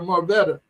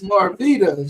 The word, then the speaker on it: Marveta: I had to ask her how to pronounce her name because I was getting ready to call her Marveta, but it's Marveta.